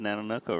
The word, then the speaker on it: Nanonoko: You said Nanonoko right. You said it right.